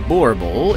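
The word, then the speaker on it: Boerboel: The Borbul, pronounced Borbul, is a large guardian dog which is also known as the South African Mastiff.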